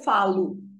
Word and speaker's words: falo: And instead of the A-R, it becomes eu falo. Okay? Eu falo, tu falas, você fala. See, the stress is on the before last syllable.